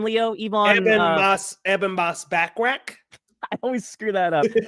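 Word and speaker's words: Ebon Moss-Bachrach: Ebon Moss Backrack.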